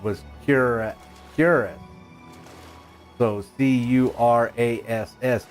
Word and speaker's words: cuirass: Botanically, it is RAS with the emphasis on the second syllable. Well, that's what I always thought it was said, was cuirass. So C-U-R-A-S-S, cuirass.